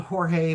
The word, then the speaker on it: Jorge: Um it's spelled Jorge, but George pronounced it George, so I'm just going to call him George.